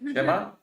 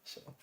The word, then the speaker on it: Siema: Shema? Siema.